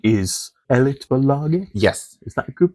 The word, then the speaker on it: Elitbolaget: You mentioned your booking and label name is Elitbolaget? Yes. Is that a good pronunciation? Yeah. I've been learning Swedish. Okay. So I'm trying. Elitbolaget, that's like the elite corporation.